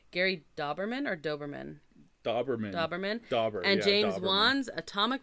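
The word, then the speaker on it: Dauberman: before we forget, I'm going to say this name wrong. Gary Doberman or Doberman? Doberman.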